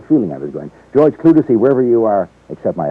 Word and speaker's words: Clutesi: I said Clutesi, and it's not. It's Clutesi. Clutesi. Yeah. Thank you very much. I had a feeling I was going. George Clutesi, wherever you are, accept my apologies.